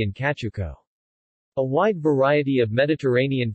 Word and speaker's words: Cacciucco: kachuko italian pronunciation katuko is an italian fish